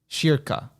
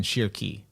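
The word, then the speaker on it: Schierke: vibes come from um if it's anywhere close to germany pronunciation it's probably pronounced sheer plus the ca in can so shirkah oh okay that makes sense it makes a little more sense than shirky so shirkah because shirky reminded me of jerky i don't know um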